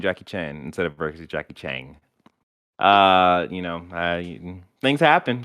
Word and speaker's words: Jackie Chan: up your pronunciation of jackie chan and not jackie chang did i say chang you've added a g at the end of his name every time you've been